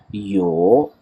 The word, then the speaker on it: 有: यो, पहले आवाज़ डिप हो रही है, उसके बाद ऊपर की तरफ जा रही है।